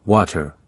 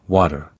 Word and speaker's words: water: For instance, when someone in the US asks for water, they don't usually pronounce it the way it looks. They don't say water, they say water. That's right. Water becomes water in everyday speech.